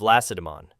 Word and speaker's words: Lacedaemon: They were called Lacedaemonians, in honor of the city of Lacedaemon, the emphasis of which is shifted to the last syllable, even by experienced historians.